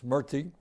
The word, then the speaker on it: Murthy: Vivek Murthy, I used to mispronounce his name, it's Murthy, is the 21st Surgeon General of our country.